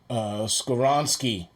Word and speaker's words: Skoronski: His name is Skoronski from Northwestern. And here's $1 for pronouncing that correctly.